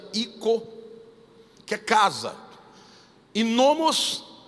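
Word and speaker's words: οἶκος: o significado desta palavra vem do grego oikos se escreve oikos mas na verdade se pronuncia i co que a casa inovamos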